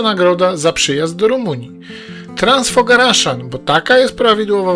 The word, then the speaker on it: Transfăgărașan: Transfogaraszan, bo taka jest prawidłowa wymowa nazwy tej drogi, przez lata był uznawany za jedną z najpiękniejszych dróg świata.